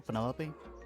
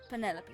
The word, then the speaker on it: Penelope: Is that short for Penelope? Officially, yes, but I never can be bothered with all 4 syllables of it. Penelope sounds a little ostentatious coming out of the mouth, don't you think?